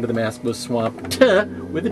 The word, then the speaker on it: Swampt: this guy swamped now why did i say it silly like that well because if you spell it like the word swamped with uh as in swamped with work or swamped with offers or swamped with letters or whatever uh that would be swamp with ed on the end well